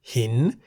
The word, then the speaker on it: หิน: Examples of words containing Sara-E are bin in the middle tone, meaning to fly, and hin in the rising tone, meaning stone or rock.